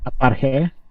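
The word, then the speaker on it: ἀπαρχή: Aparche. There you go. Aparcheia.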